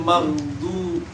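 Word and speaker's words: المغضوب: Ghairil maghdub.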